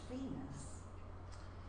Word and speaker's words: Vaness: told me that the vanesse referred to by Barbara Lee Smith was Sarah vaness then pronounced Venus and she was in